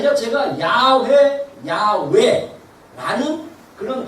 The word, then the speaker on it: 야훼: 이 원래 그 히브리어로 봤을 때 여호와는 야훼라는 말이에요. 야훼 또는 야훼. 이게 왜 발음이 정확하지 않냐면 히브리어에는요 모음이 없어요. 자음만 있어요.